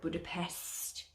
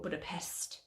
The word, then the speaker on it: Budapest: norway that we were budapest or budapest or budapesh however you wish to pronounce it there was lots of